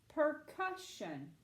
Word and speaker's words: percussion: / cuss shun percussion percussion where is my accent mark Abby yes ma'am it's on this second syllable excellent job alright and